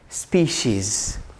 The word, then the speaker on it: species: Instead of species, it is species.